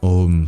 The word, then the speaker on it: Om: of a and u joining together to form O is a artifact of a previous time in which it was pronounced separately so there has been a Resurgence in modern times of the viic pronunciation of of so you may hear some people returning to that pronunciation or spelling too but this is going way back in Tradition since it has been om for at least 2,000 years anyway the point is